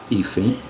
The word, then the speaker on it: hífen: Hífen, que se separa com 2 sílabas, a sílaba tônica é a penúltima e ela termina em N.